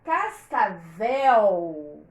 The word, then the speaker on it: cascavel: com vocês mostrar então nós sabemos que a palavra Cascavel a última sílaba é forte por causa do ele toda vez que uma palavra terminar bom então esse é ele vai fazer a sílaba onde ele está ali A Última ser longa papel anel Cascavel mas